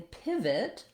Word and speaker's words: pivot: In pivot, letter I says the vowel I, like in pit or did or it. This is very typical for letter I in a stressed syllable to say this I sound. Watch out that you don't want it to make the E sound. That's a typical error pattern because letter I often says E in other languages.